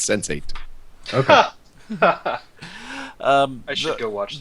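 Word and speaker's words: Sense8: The Alex, the TV show you were talking about was Sense 8, which apparently is how that archetype is pronounced. It's not Sensati, it's Sense 8.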